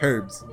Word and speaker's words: herbs: Herbs. The H is silent.